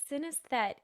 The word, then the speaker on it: synesthete: It's synesthete. Even I have Synesthete.